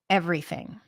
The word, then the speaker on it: everything: Everything. Stick the tongue out for the TH.